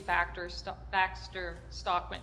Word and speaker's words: Baxter Stockman: Initially, it was supposed to be Baxter Stockman, right?